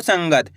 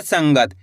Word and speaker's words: संगत: इसी तरीके से पढ़ना है आपको संगत। आपको करना क्या है? इस बिंदी का उच्चारण ना के रूप में तेजी के साथ निकलेगा। संगत क्लियर है?